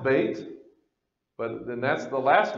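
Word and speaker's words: ב: here with the open door and so it's pronounced bait but then that's the last letter of that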